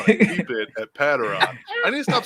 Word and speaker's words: Patraw: Yeah, it's Patraw. It's not Petro, whatever Ben said. Pedro. I'm going to go Pedro. The best pronunciation of my last name was Patraw, and